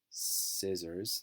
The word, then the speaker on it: scissors: So in the sentence here it says the scissors, that's a tough word there, SC, there's a silent C, a silent K there, scissors weigh, and also this